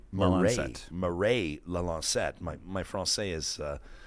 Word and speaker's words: Lalancette: How do you pronounce the name of your other co-author? Is it Mireille? Mireille Lalancette.